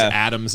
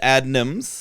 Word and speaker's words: Adnams: I might have said Adnams. When I first thought, I thought it was Adams. I don't know. It's Adnams, Yeah.